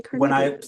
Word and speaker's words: Carnegie: and Influence People by Dale Carnegie or Carnegie, I've heard it's actually Carnegie. I listened to the audiobook and they pronounced it Carnegie.